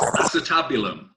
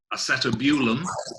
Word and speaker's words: acetabulum: So it's acetabulum. It's not acetabulum, as I've heard it pronounced and so on.